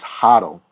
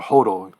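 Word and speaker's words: HODL: um the next term is huddle so or hotel however you want to pronounce it hotel means that you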